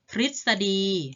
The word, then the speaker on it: ทฤษฎี: เป็น รึ นะ คะ ต่อ ไป อ่าน ออก เสียง ริ เช่น คำ ว่า ฤทธิ์ หมาย